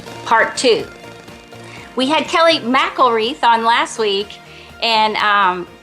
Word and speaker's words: McElreath: thriving through tragedy part two we had Kelly mcelreath on last week and um I kept pronouncing her name incorrectly so it is mcelreath so I want to say that she is